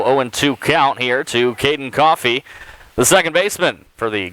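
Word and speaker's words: Cioffi: So 0-2 count here to Caden Coffey, the second baseman for the Golden Lions. As Zach said, last name spelled C-I-O-F-F-I, but pronounced Coffey.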